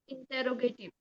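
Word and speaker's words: interrogative: इंटेरोगेटिव।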